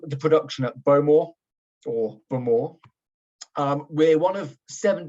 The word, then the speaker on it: Bowmore: this is a little map of Isla um bow more or if you want to be really um